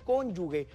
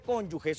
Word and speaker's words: cónyuge: temas del matrimonio las las personas en guatemala solemos decir cónyuge pero si usted mira cómo se escribe esa palabra es que sin la u así que la pronunciación correcta por favor siempre va a ser cónyuges o para que lo